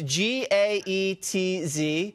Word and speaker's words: Gaetz: It's G-A-E-T-Z. It's pronounced Gaetz, but no one knows how to say that. I'll tell them it's Gaetz.